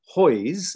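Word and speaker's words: Haweis: most widely read was mary eliza hoyes spelt h-a-w-e-i-s this is where um english turns out to be harder to pronounce than polish mary eliza hoyes who interestingly moved into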